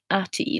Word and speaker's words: Chatti: My Germanic tribe is called Chatti, pronounced Ati, like hottie.